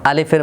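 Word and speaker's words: ألف: হরফে আলিফটা উচ্চারণ হবে কিভাবে? আলিফ। আলিফ অর্থাৎ এ হরফটি তিনটি হরফের সমষ্টিগতভাবে এ হরফটির বানান। একটি হচ্ছে হামজা আরেকটি হচ্ছে লাম আরেকটি হচ্ছে ফা। হামজার হরকত যদি জবর জের পেশ হয় তাহলে উচ্চারণ জবর হলে কেমন হবে? আ এরপরে লামের মধ্যে আছে জের ফার মধ্যে জজম একসাথে উচ্চারণ করলে আলিফ তাহলে আলিফ হরফটা উচ্চারণের সময়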